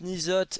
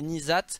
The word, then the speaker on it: N'Zoth: marche aussi en fait il y a pas de vraie prononciation même si la prononciation phonétique la plus proche je crois que c'est nzat exactement c'est nizat ou niazat un truc comme ça donc voilà mais bon